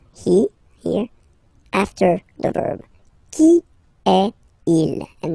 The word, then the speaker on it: Qui est-il: Qui est il? And then you make the liaison.